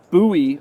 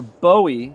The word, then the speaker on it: Bowie: then uh we've got the Northwoods buoy or Bowie depending on where you are from in the world if for my Texas people it's buoy but for everybody else I guess it's Bowie how do you say